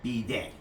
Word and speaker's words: bidet: So I'm going to start by respecting the French and calling them by the proper name, which is bidet. So don't pronounce it bidet or any other way because the French are going to get pissed off.